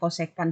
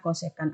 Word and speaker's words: kosekan: lalu ditanya ini nah penulisan kosekan itu tergantung buku ada yang menulis kosek ada yang menulis CSC ya tapi kita bacanya kosekan saja supaya aman kita tetap bacanya kosekan Alfa lalu ini sama